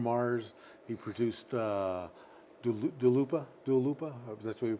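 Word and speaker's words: Dua Lipa: Dalupa. That's the way you pronounce it.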